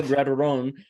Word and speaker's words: Grateron: Your names, you guys are part of, we got Luis Gonzalez, Grateron. Hope I pronounced those correctly, with the you did.